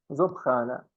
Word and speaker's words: Soprana: Esse S no começo aqui da frase, se vier vogal depois, tem som de Z. Soprana.